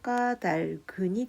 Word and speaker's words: 까닭은: 까닭은 같은 경우에 보면 표준발음법 제14항에 보면 겹받침이 모음으로 시작된 조사나 어미, 전미사와 결합되는 경우에는 뒤에 것만을 뒤음절 첫소리로 옮겨 발음한다. 이 경우 시옷은 된 소리로 발음함이라고 되어 있어서 옮겨 발음한다 라고 되어 있으니까 뒤에 것을 요 뒤에 기억을 뒤로 옮겨 발음해서 까달근이 됩니다. 자, 끝으로 156쪽을 펴도록 하세요.